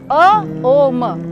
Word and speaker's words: ओम: बंद कर लें, और ओम का उच्चारण करेंगे आप मुंह बंद करके। अ ओ म।